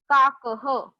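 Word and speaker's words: काकः: काक क्रो, उसके एंडिंग में जो दो डॉट्स दिख रहे हैं उसको हम कहते हैं विसर्ग. विसर्ग, ओके, टू डॉट्स, एंड उसका प्रोनाउंसिएशन होता है ह हा ही. अभी यहाँ पे हम लोग प्रोनाउंस करेंगे अ. काकह.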